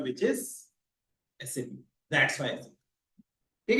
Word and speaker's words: SAP: तो अब इसका करेक्ट प्रोनाउंसिएशन क्या रहेगा? एसएपी, ना कि सैप।